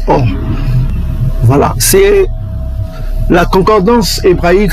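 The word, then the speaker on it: אור: pas comme vous voyez en hébreu c'est or hein c'est comme l'or que vous voyez là on prononce or voilà c'est la concordance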